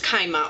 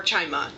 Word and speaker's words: Chima: That is The Warrior Heir by Cinda Williams Kaima, or Chima, either pronunciation is correct.